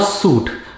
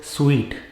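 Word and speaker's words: suite: restaurant it is a suit i am not living in a hotel suit i am living in a hotel's sweet sweet as though you are eating a sweet that is how it is pronounced it is not espresso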